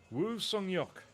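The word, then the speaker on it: Woo Sang-hyeok: the world indoor champion in 2022, Wu Seyok, giving it the Korean pronunciation with the family name first.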